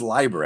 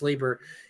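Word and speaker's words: Leiber: Fritz Lieber. Yes, it was. I think it's Liber, actually. I think it's how you pronounce it.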